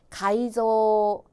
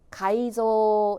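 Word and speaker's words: 改造: 마지막 단어는 앞에가 개 뒤에는 조다 그죠 계조는 가이조 가이조 되겠습니다 일단 계조는 아니다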